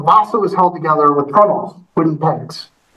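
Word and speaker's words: treenail: The Vasa was held together with trunnels, wooden pegs, 3 nails. They always pronounce them trunnel. Weird thing with the maritime things. They never pronounce them the way they're spelled.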